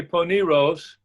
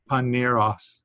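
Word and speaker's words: πονηρός: uh bone poneros paniro you might say pony rose uh-huh a paw it's a it's a omicron it's not a big o so it's panna pannier os yeah narrows okay yeah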